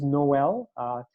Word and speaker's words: Noel: His name is Noel. Yeah, it rhymes with my name. It's Noel with an N.